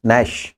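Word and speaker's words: gnash: दांत के लिए तो टीथ आ जाएगा, दांत पीसना नैश। इसको गणेश मत बोलना, जी साइलेंट है इसमें।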